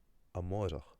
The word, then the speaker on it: amárach: And in Connacht and Munster it's pronounced something like amárach, right? Amárach. And if you have your listening ears on you'll be able to hear that when I say that word I'm using a slender or, right?